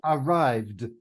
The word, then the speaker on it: arrived: Is it an ID, a D, or a T? D. It's a D, right? D. Arrived, arrived, d, d, d. There's a D sound there.